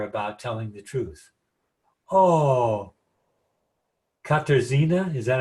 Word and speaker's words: Katarzyna: Oh, Katarzyna, is that how you say it? Katarzyna.